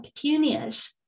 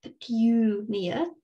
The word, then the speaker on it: petunia: Now, in British English, you pronounce it like this: petunia, a petunia, a petunia. But in American English, there's no y sound. So it's just a petunia in American. So petunia, British, petunia, American.